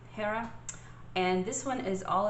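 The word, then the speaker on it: Jera: for you is is i think it's pronounced hera it's j-e-r-a hera and this one is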